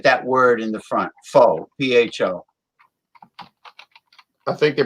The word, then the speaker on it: pho: Pho Bang. F-O or Phobang. You know, it's funny you mentioned that, because there's a Vietnamese restaurant in my county with that word in the front. Pho, P-H-O.